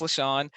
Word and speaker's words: LaShawn: As John said, I'm LaShawn, pronounced LaShawn, and I'm currently the Director of Infrastructure Operations at Amazon Web Services.